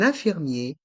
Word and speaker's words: infirmier: un infirmier une infirm il y a le son 1 dans infirmier et infirmière avec les lettres i n et on fait la liaison avec le N de 1 et le I de 1 un infirmier de même pour une